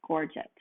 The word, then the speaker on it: gorget: So this part of his neck is called his gorget. Gorget. That's how I read that you're supposed to pronounce it.